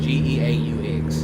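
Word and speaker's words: Geaux: Well, down there they spell it go in the French way. G-E-A-U-X.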